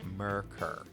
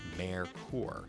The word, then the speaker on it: Merkur: Most buyers said Merkur, as in Merica. The correct German pronunciation was closer to Merkur, as in "Hey Mer, you seen this weird European car Ford released?